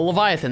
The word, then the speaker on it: Leviathan: The Leviathan. That's how you say it.